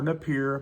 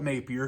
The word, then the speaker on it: Napier: One channel I shouted out before, and that's Anthony Napier, or Napier, but I call it Napier because I've actually heard it pronounced both ways.